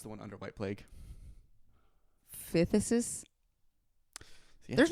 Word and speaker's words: phthisis: How would you pronounce the one under white plague? Phthisis.